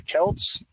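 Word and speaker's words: Celts: Europe comes from the Kelts oh shout out my family let's go who inhab France Belgium and parts of Germany and Switzerland oh no no not Kel I'm thinking Celtic my bad the Kelts brewed beer called braggot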